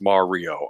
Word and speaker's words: Mario: Huh, and I get criticized because I say Mario the wrong way. It's Mario. I know. Mario. It's a Mario. You're the Italian American. How do you say Mario? Mario. Okay. All right. I came from New Jersey. They always said it Mario, but yeah, that's only the anglicized people. Yeah, it's Mario. Okay.